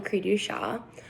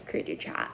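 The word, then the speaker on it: cri du chat: did my disorder on creedu shah it's a french descent which is where the name comes from but a lot of people tend to mispronounce it as creature chat because that's how it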